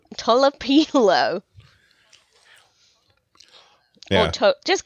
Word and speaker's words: Tolopilo: Talipilo? Tolopilo.